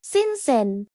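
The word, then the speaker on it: 新鲜: It's a soft SH sound, tongue near your bottom teeth. You can try to say sinsen.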